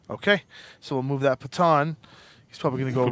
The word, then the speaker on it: Patton: Okay, so we'll move that Patan. He's probably going to go right Patan. there. I don't even know how to pronounce it. Patton.